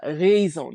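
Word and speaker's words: raison: The difference is between what we call a short e like in the word bed or let versus a E uh razone.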